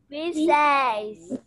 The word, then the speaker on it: pincéis: Pincéis. Pincéis. É I-S. Pronúncia de is.